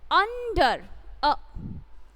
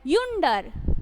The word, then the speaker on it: under: We never pronounce it as yunder. We pronounce it as under.